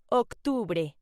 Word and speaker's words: octubre: October in Spanish is pronounced octubre.